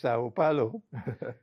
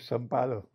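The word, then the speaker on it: São Paulo: It's interesting that you pronounce it as Sao Paulo because they don't do that in Brazil. They call it Salo.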